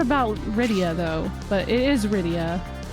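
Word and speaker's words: Rydia: It's Ryia. Ryia. They even pronounce it that way. It's supposed to be like Lydia, but they just stuck with the R.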